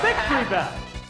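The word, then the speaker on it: Victreebel: Oh, it's Victory Bell.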